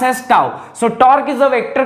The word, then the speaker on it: tau: This pronounced as tau.